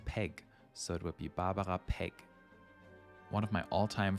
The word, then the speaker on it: Barbara: in many European countries if you wanted to pronounce it German you could say babaja and her surname is Peg so it would be Barbara Peg one of my